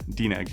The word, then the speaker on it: DNEG: So Dineg, am I pronouncing that right? The animation company? DNEG? DNEG? Yeah, it's short for double negative. Yeah, DNEG, yeah.